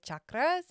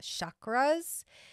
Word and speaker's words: chakras: energy healer did you know that the correct pronunciation for these energy wheels in our bodies are actually chakras and not chakras having the knowledge and the wisdom and the